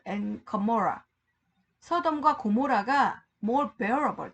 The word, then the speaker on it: Gomorrah: Gomorrah, G-O-M-O-R-R-A-H. 그러니까 Gomorrah. 뭐 이렇게 발음하는 거죠.